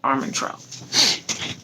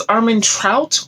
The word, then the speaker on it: Armentrout: fire by jennifer l armentrout i don't know if it's armin trout or almond troll i think it's armentro i think that's how most people pronounce it so yes this is